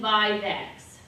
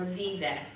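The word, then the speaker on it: vivax: malaria ovale calciperum and vivex or vivex if you're from Michigan it depends by that feedbacks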